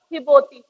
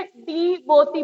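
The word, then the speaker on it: Djibouti: पाते, मतलब एक तो इसे डी बोती पढ़ेंगे नहीं, गलत है, डी तो साइलेंट है। और ये जो जेड है ना, अफ्रीका में जे का साउंड जो होता है एच होता है। अफ्रीकन्स जो है वो जे को एच के साउंड में पढ़ते हैं, ठीक है, जे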